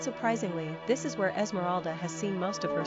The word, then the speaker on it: Esmeralda: Pronunciation, Esmeralda.